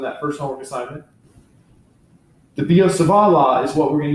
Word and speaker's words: Biot-Savart: Obviously, these guys were French, hence it's not the Biot-Savart. Biot-Savart is my best pronunciation. I'm not a French speaker, so take it for what it's worth.